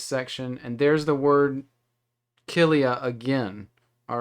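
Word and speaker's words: χίλια: see here we have the form zillia or archelia i keep saying it wrong but you know what i mean um it's that it looks like the x i l i a okay and so it's kilia so let's look now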